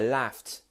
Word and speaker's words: laughed: Now that T sound is quite hard to make, I know. It's almost like you're spitting. I laughed. And it's kind of has to roll off of your lips. So your teeth go down onto your lips. I laughed. And then you have to kind of spit out that last sound.